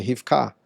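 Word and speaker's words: רבקה: A gente chama de Rebeca, mas já que para você manter a pronúncia, então faz a pronúncia o mais próximo possível do idioma original, que seria Rifká e não Rebeca.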